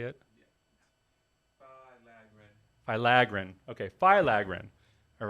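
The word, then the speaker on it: filaggrin: look it up how to say it yeah phylagrin okay phylogren all right I'm gonna I'm gonna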